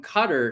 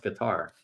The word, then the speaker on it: Qatar: with receiving gifts from cutter in new allegations in corruption scheme Brandon says it's guar I don't think it's pronounced guitar oh no I didn't say guitar it's cutter I think it's cutter D cutter okay I